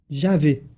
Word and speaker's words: Javé: Javé. L'enfant le prononce comme cela. Un J très doux qui devient presque un Y. Et un A très long.